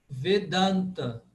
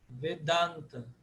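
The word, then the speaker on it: Vedānta: Vedanta. Por quê? Porque o da é longo. Vedanta.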